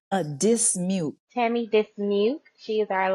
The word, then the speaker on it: Dismuke: name so I can say it correctly a dismute Tammy dismute she is our licensed esthetician that